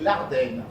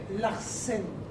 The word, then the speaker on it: Larsen: Et vous arrivez à vous contenter de ces quelques syllabes stupides « Je suis Larden ». Larsen. Pardon. Je comprends. La quintessence de votre être tient dans le S.